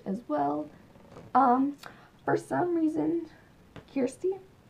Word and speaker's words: Kirsty: For some reason, Kirsty, that's how you pronounce her name, people.